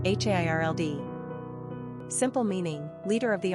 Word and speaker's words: Harold: Number of syllables, 2. Ranking popularity, 893. Pronunciation, Hairld.